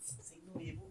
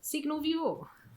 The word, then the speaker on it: Signo Vivo: How do you pronounce that? Signo Vivo. Signo Vivo. Thank you. You pronounce it in Norwegian, of course.